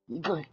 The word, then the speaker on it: Ikai: You gotta say it correctly. Ikai. With more force.